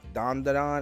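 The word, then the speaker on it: Dandadan: metal alem's Brotherhood I got to watch uh dondon is how how you pronounce it dondon dondon yep dondon okay dondon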